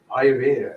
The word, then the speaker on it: Ayurveda: So tell me, what is Ayurveda?